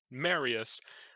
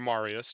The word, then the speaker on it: Marius: Julius Caesar and then Marius or Marius depending on how you want to pronounce it then goes on this